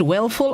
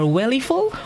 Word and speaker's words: weleful: It's either pronounced wellful or wellyful, one in the two, but it's the spelling that's important.